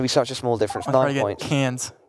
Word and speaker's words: Cairns: such a small difference cans Cairns every time I try and say that enough really well c-a-i-r-n-s like oh it's actually pronounced cans anyways in an Australian accent I wouldn't even dare